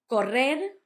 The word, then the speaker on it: correr: Correr, to run. You had the double R between the two vowels, correr, hard, and the soft one at the end, to run.